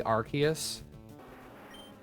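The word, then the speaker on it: Arceus: So, like I I don't really want to hear too much about the whole thing where it's like it's actually Archus. I'm going to call it Arus.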